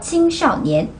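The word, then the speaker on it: 青少年: 青少年. 이거 원래는 샤오가 삼성이에요. 원래는 多少 할 때는 그때는 또 안 쓴 경성이구나. 원래 샤오는 적다라고 삼성인데요. 青少年 라고 할 때는 일성 사성으로 발음합니다.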